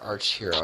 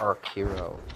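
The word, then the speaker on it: Archero: Not Arch Hero. I think I said it Ark. It's pronounced Ark Hero as opposed to Arch Hero.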